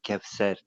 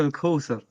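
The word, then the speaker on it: الكوثر: Inna ardayna kal Kevser. Fasalli li rabbika wanhar. Ah, tu prononces Inna mal. shaniaka Ok. huwal abtar. Ouais, tu prononces mal. Inna a'taynaka al-Kawthar.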